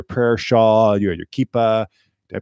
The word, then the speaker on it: kippah: You had your prayer shawl, you had your kippah. Did I pronounce that correctly?